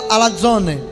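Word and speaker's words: ἀλαζών: significados da palavra grega alazone. Porém, veja como o dicionário de Strong, ele define essa palavra. Alazon, o Z é pronunciado DZ, tá, no grego. Alazone, vagabundo, portanto um impostor, fanfarrão, né?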